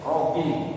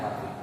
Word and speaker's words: roughing: Ya, rogging, tapi bacanya roughing.